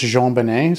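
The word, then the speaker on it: JonBenét: i always spell it wrong because it's always pronounced jean-banay so i always spell it like j-e-a-n but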